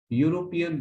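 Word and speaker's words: European: पी ई ए एन, यूरोपियन बॉय हमें लिखना होगा। यहाँ पर जो प्रोनाउंसिएशन है, तो यहाँ पर ऐसा है यू, हिंदी का यू यानी कॉन्सोनेंट जैसा है।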